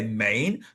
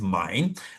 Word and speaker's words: Main: It is spelled as though you would say Maine, but it is mine.